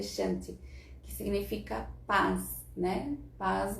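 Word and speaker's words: शान्ति: Se pronuncia Shanti, que significa paz, né?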